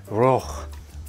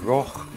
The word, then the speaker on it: rukh: So in Persian, the word for chariot is rokh. Probably not pronounced exactly like that, but that's the best I can do. So rokh in Persian soon became the word rook in English.